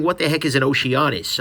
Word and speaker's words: Oceanus: Next thing, what the heck is an Oceanus? And yes, that's spelled honest, not anus.